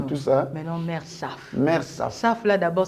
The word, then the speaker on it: Saph: Mais non, Mère Saf. Mère Saf. Saf, là, d'abord, ça s'écrit comment?